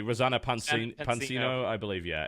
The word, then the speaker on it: Rosanna Pansino: I can never pronounce her name correctly. Rosanna Pansino, I believe.